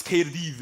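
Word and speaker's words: Caerdydd: It's KD anyway. Kad. Apparently, double D is pronounced.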